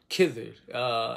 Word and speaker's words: Khidr: Khidr. In English, it's spelled with a K. K-H-I-D-R. Khidr.